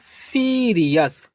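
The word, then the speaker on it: serious: SEREOUS। तो याद रखना यहाँ पास आपको नोट करना है OUS। OUS इसको पढ़ते हैं अस। क्या पढ़ते हैं? अस। फिर है अब इसको प्रोनाउंस करें SE को पढ़ते हैं सी। और RE को पढ़ेंगे री। और OUS को पढ़ते हैं अस, तो लिखेंगे अस। तो ये हो जाएगा सीरियस।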